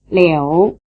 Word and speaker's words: liu: This one seems like it should be spelled L-I-O-U, since the sound O is spelled O-U, but the O has been left out.